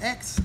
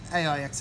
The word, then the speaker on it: Aix: a big aix here it is actually pronounced just x but without aussie slang aix is fine as well